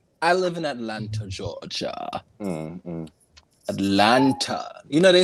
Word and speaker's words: Atlanta: live in atlanta georgia atlanta you know they say atlanta atlanta down here they don't pronounce the tea first of all it's atlanta thank you